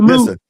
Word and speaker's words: Moot: Mr. No, no, no, no, no. You said it right the first time. The first time you said moot and then you said.